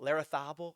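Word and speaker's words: Larrazábal: was in this field Pablo Lara stable larathable I believe is how he pronounces it thorbourne olison Robert McIntyre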